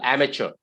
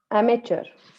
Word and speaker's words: amateur: a major no amber m is the first syllable amateur amateur amateur is how you pronounce this one okay what